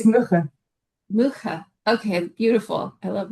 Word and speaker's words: Mugge: who I know my English pronunciation makes me want to say like, but I have a feeling it's much more like Mugge or something like that. So Yeah, you can it's, yeah, it's Mugge.